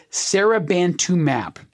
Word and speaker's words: Serabantumab: name of the drug, Serabantumab. And I'm emphasizing that last syllable, mab, because M-A-B, when you see it spelled out, that is a suffix at the very end of the drug name, and that tells you it is a monoclonal antibody.